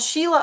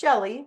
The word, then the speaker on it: Sheli: So I get called Sheila a lot, but it's not Sheila, it's Sheli. It's just one L, one I.